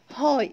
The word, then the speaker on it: high: هاي الجي اتش بتتنطق لما يكون معاها اي؟ نو.